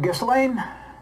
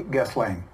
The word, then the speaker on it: Ghislaine: Ghislaine, I got to say it the way it is. Oh, to be fair, not the way it's spelled. Media is saying Ghislaine. Ghislaine. But Ghislaine. When I listen to her interview, she says her name is Ghislaine.